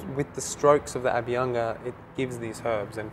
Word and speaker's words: Abhyanga: How do you pronounce it? Abhyanga. Abhyanga.